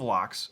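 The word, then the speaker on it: Lecque: but so there's a originally House of locks lock Le c q u e s is how he's going to spell it um and there was going to be a cemetery with a mausoleum who is for locks and it was the lock family not l-o-c-k-e like lock and key it was but playing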